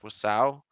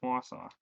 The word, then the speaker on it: Wausau: They are running monthlies in Wisconsin though, so if you're around Wasau, show up. This should have been like I think Wausau. this did I say it right? Is it Wausau? Yeah, it's Wausau.